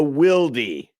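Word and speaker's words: Wilde: Key two, jam the run, tame the Wildy. Tame the beast. It looks like wild with an e, but it's pronounced Wildy.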